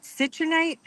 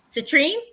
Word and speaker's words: citrine: Citronite? Oh, citrine? Yes. Okay. Yeah. That's okay. I know how to spell it, but I don't know how to say it.